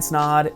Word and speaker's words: Snod: My name is Snod. It rhymes with odd and I own a video marketing business based here in central Iowa specializing in the health and fitness industry.